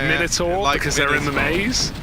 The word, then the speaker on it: Minotaur: although it is pronounced minor Tower minor Tower I don't believe that no but it's like minor Tower like you have to go American on the end oh okay all right